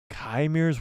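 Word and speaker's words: Qimir: Kymir's working for the Master too?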